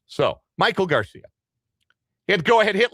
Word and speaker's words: Maikel Garcia: It is not pronounced Maikel Garcia. It is Maikel Garcia. It is Maikel Garcia.